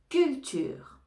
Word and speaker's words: culture: correct correct correct cULTURE CULTURE ici on ne prononce pas le E final cULTURE CULTURE on a